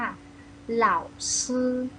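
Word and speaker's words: 老师: อย่า ลืม นะ คะ คำ ว่า ซื้อ ปลาย ลิ้น แตะ ที่ หลัง ฟัน บน ค่ะ เหล้า ซื้อ เหล้า ซื้อ คำ นี้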